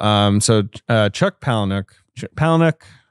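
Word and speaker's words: Palahniuk: um so uh Chuck palanuk palanuk I looked up pronunciation is po poic uh WR writes a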